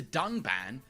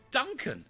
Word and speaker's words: Dunban: disagree with and then calls the character dunban Duncan this time however they did edit out the mistake but even in the re-edit he still pronounces the name wrong with the horrendous drop